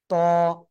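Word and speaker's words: ط: অক্ষরটা বলবো সবাই লাগান ত ত ত ত ত মোটা আওয়াজে পড়তে হবে ঠিক আছে কোনভাবে কিন্তু চিকুন আওয়াজ হবে না ত ঠিক আছে আর এই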